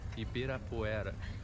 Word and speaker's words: Ibirapuera: That's Ibirapuera. It's hard for you to pronounce that.